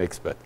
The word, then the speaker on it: expat: Et expat, c'est expat. Prononcé à l'américaine, expat.